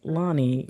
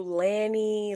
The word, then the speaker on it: Lani: like y'all don't that's Lonnie. What how do people pronounce that? If you got to put the phonetic spelling they do Lanny Laney. Like it's never just Lonnie.